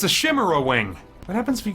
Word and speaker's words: chimera: I remember when I was in college, I thought chimera was pronounced chimera. Someone very graciously corrected me, and whether they were being honest or not, they said that they thought my pronunciation was really cool. But alas, I did have to adapt to chimera.